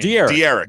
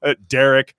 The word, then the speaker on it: De'Eric: Apparently, that's how you pronounce his name. De'Eric. Yeah. De'Eric. I did a video on him on YouTube. Yeah. Oh God, what'd you do? Derek.